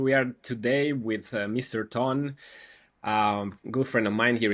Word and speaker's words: Ton: So, welcome, Ton. Thanks for coming. Thank you, Javi, for letting me into your podcast. Nice pronunciation of my name.